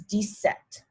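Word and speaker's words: dix-sept: the pattern changes so now if 17 is descent so we remember that dice is 10 and set is 7. so really this is directly translated is 10 7 17 decept 18 is very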